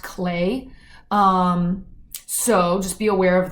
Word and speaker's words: Klee: a famous artist, and his name is spelled Klee, but from everything I see online and have read, it's pronounced Clay.